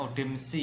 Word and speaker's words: Odem XU: Untuk produk dari Bekam Sinergi sendiri yang formula saya namanya Odemsu ya, Odem XU ya, tulisannya XU bacanya Odemsi ya, Odemsi.